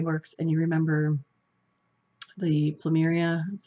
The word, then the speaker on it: Plumeria: If you were in Bath and Body Works and you remember the Plumeria, that's how you say it, scent, that's what this reminds, has that scent to it.